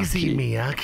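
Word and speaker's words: Issey Miyake: It's more easy. Take it easy. That's why I'm easy. Take Miyaki. It easy, Miyaki.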